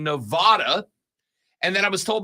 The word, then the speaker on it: Nevada: ways back toback but argues how tournament is pronounced all right it's Nevada just so we're clear Nevada it's Nevada and I know that because one of my